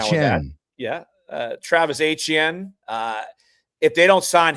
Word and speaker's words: Etienne: If uh you know, if How do we pronounce his name? I need to know that. Uh Travis Etienne.